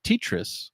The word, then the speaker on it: Tetris: when they announced this they pronounced it Tetris actually oh my god I've been saying it wrong the whole time and yes if you